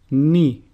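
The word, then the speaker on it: Νι: Ni, which is pronounced nu, and a sample word is nero, which means water.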